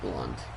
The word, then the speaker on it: Blount: Why is it Blount, but it's pronounced Blunt?